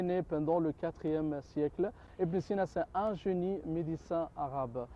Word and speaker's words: Ibn Sina: Avicenne, Ibn Sina, en prononciation arabe, oui.